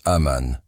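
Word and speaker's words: אמן: Ces 3 consonnes, Aleph, Mem, Nun, forment la racine que l'on prononce Aman.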